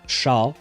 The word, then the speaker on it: chat: because written like that chat uh can also be pronounced sha which means cat in French but it is what it is.